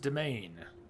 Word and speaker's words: Demesne: It's pronounced domain.